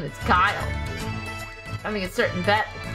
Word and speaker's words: Guile: What, how do you pronounce his name? Guile. My name is Guile.